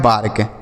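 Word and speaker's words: bark: रहे तब क्या होगा देखिए तो ए के बाद अगर आर रहे तो आ की मात्रा का उच्चारण करेंगे। किसका उच्चारण करेंगे? आ की मात्रा का। ठीक है? जैसे बी से हो गया ब। ए के बाद आर है तो आ की मात्रा लगा देंगे। आर से र के से क लिखा है बार्क। ठीक है? यह हो गया बार्क।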